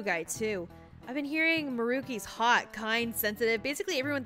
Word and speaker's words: Maruki: it's maruki what's up his name is marky i understand but also i don't care it's it's maruki rookie's a cuter pronunciation well it's not like